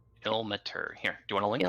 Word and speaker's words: Ilmater: Not Ilmatha. Nope. Ilmater.